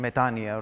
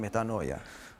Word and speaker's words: metanoia: the Greek, being Greek, I will be using the Greek pronunciation metanoia rather than metanoia.